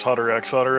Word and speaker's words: Hunter x Hunter: Like, I'm 100% sure it's Hunter x Hunter. Okay, say it right. I'm of the ilk that does not pronounce the X.